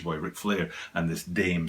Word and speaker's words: dame: The way they would read this word here in Japan, which is where I am obviously, is da-me. It wouldn't be Dame the way we read it in English. It would be 2 syllables, da-me.